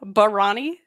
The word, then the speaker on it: Barani: Okay, I'm going to say pet peeve skills, Baranis, just in general. Barani? That's how we're pronouncing it now? Barani? Now, you have mispronounced this your entire life, is what it is. An Italian name. It's a Barani.